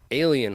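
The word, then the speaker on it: Allyn: of this um and it's called allen hall but it's spelled a-l-l-y-n why this is wright state for jl and einic it's like alien hall oh right that's crazy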